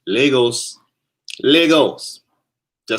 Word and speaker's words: Lagos: Pronounced Lagos.